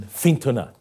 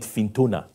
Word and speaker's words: Fintona: in Northern Ireland in fintona I think I'm pronouncing it properly I used to call it fintona but it's fintona you know with the Irish twang or Another Irish accent